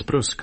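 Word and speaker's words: brusque: Who else would pronounce Brusk the French way?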